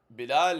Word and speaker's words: Bilal: Then Bilal with an accent. Bilal is that was how you say his name in Arabic. That's how it's typically said.